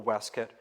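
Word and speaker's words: waistcoat: heat there's a wonderful weset or vest um waste coat or weset is an acceptable 18th century pronunciation um but a wonderful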